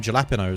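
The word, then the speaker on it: jalapeño: why not or gapos the J is a h okay also feel that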